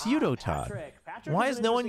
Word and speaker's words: Udotan: Isn't really does he want it pronounced Udotan? It's Udotan.